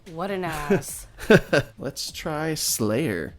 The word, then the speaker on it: Sleigh'r: Sleigh'r, not spelled like the band, is like the Santa sleigh. SLEIGH apostrophe R.